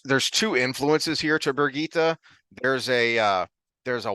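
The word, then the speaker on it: Birgitte: but there's also a bear Geet uh uh Germanic Scandinavian because it without the extra syllable in the end it's the German pronunciation of Bridget and but then you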